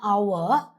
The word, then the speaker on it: hour: Like if you look at honor and hour, it feels as if it starts with an o but it actually starts with an h. Honor. Hour. And also kindly note because of the sound it makes, you will always put an an before it. The article an an hour. An honorable man.